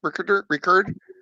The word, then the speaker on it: Rickard: How do you pronounce Rickard?